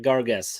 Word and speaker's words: Gargas: Yeah, spelled with an A, Gargas. but said more like an E, like Gargas.